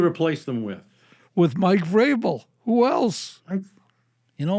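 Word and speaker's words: Vrabel: you please tell her it Vel rhymes with Abel not vble rhymes with Scrabble yeah you know it's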